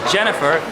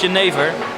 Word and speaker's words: jenever: So in English, some people would say it's pronounced as Jennifer. Unfortunately, it's Jenever, because Jennifer works in the red light district, and that's where we're going now.